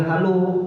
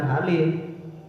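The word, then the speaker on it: الحالُ: Cara bacanya wa hadhil halu bukan halih.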